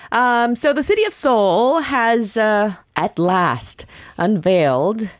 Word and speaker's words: Seoul: and the slogan is soul my soul yes in English if I pronounce it like that it Rhymes but um it sounds the same it's soul my soul